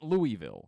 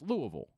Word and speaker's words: Louisville: louisville which to our understanding is how you pronounce the town's name right but there it sure as hell ain't louisville right you you know you're not from there